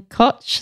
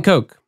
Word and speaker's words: Koch: the podcast and with is it Dan Koch is that how you say his name Dan Koch Oh Dan Koch I was saying it totally wrong I'm sorry everybody I'm